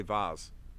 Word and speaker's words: vase: come up here but i say vaz which would correlate with the australian side but let's see what he says he would pronounce it in american english as vase whereas they're here in australia they pronounce it vase so the way we